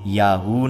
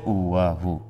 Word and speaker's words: ইয়াহু: লোকটি ভুল উচ্চারণ ডাকছে। ইয়াহু না বলে বলছে উয়াহু।